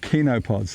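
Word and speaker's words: chenopods: of it one percent is called kinopods looks like it's spelled Chino pods c-h-e-n-o pods but it's actually spent cleanup Kino pods and that's everything in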